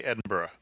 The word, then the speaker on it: Edinburgh: it correctly to make sure that I don't mispronounce it because I've been known to say it wrong in the past I say Edinburgh yeah it's Edinburgh Edinburgh Edinburgh yeah Edinburgh okay